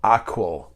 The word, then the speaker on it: AQAL: or share with you something called aqua it's spelled aqal it's an acronym for